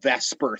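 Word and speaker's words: VSEPR: use this theory with a cool acronym called vesper theory except it's spelled v-s-e-p-r so vesper theory is the theory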